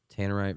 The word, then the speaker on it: Tannerite: this Tamarind Tannerite Tanner I think it's t-a-n-e-r-i-t-e i-t Tanner right two two ends two ends Tannerite reflective rifle targets what